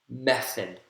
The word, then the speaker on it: method: to check your answers method method method first syllable has primary stress idea idea i id